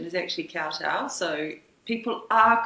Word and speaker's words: Kowtow: Um, but yeah, the name Cotto, it the correct pronunciation is actually cowtow.